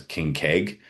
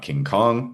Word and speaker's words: KNKG: which actually kind of pronounces out as King Keg, not King Kong, but I understand where they were going with it, right?